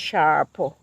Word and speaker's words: Sarpo: Sharpo Mirror is what it's called. It's spelled Sarpo, but it's pronounced Sharpo. So I'm going to try Sharpo Mirror potatoes next season, God willing.